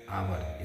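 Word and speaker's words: hour: हुआ है पर इसे आपने पढ़ा है क्या आवर इसे हवर नहीं पढ़ते अगर आप इसे हवर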